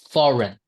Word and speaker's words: foreign: that seems to have the ch sound at the end, but doesn't. Is the one foreign. Oh, right. Okay. Foreign. We don't say foreign, right? Right. Okay. Just foreign.